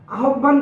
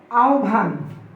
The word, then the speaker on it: আহ্বান: এই যে আমরা বলি যে আহ্বান, আহ্বান করছি, এটা সম্পূর্ণ ভুল। এই যে বানান অনুযায়ী এই শব্দটির প্রমিত উচ্চারণ হবে আহ্বান। আহ্বান, আহ্বান না।